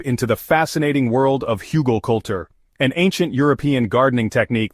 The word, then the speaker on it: Hugelkultur: Huggal culture, pronounced Hugal culture, translates roughly from German as hill culture or mound culture.